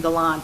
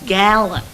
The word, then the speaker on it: Gallant: galah and oh and i love how you say my name galon do you know yeah i'm from the midwest i'm from ohio it's gallon gallon that's something yeah i get that nose in there i think a little